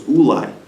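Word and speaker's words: אולי: But the first instance spelled with a vav, Ulai with a vav, and the second instance spelled Ulai without a vav, which can also be pronounced Eli, which means to me.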